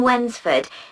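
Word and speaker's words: Wednesford: She lives in Wensford, so you'll need money for the bus fare. Wensford, that's funny. It's like when's the food? No, it's spelled w e d n e s f o r d.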